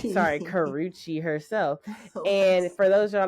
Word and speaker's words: Karrueche: in the hospital s bedside and there goes Karrochi herself Karuchi sorry Karuchi herself and for those yall don't know who